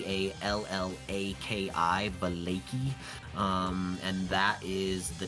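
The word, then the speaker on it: Vallaki: the lakey so uh the way uh that is spelled is v v-a-l-l-a-k-i balaki um and that is the town that you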